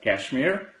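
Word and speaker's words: KSHMR: Kashmir how can we how can we pronounce k s HMR I think it pronounced as Kashmir uh the third is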